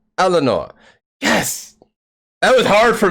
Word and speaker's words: Eleonor: name is like oh so we we pronounce it yes okay the second name is eleanor eleanor okay so yay i did something